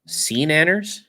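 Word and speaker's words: SeaNanners: Sea Nanners? Is that how you say it? Yeah, sea nanners.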